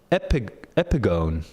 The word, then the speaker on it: epigone: Oh, an epigony, epigone, epigone. Well, that's not what I was. That's not what I assumed it would be pronounced.